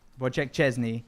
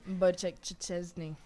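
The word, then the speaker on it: Szczęsny: Last night we had a cracking match, and as many of you pointed out in the chat, our Polish goalkeeper, Wojciech Chesney, Wojciech Chesney.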